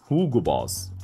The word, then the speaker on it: Hugo Boss: Boss Hugo Boss and Germans pronounce it as Hugo Boss why because the letter U in English is in German Hugo Boss the name